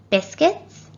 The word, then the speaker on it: biscuits: by a vowel so in biscuit we don't pronounce the u because it's followed by an i which is another vowel and that's the same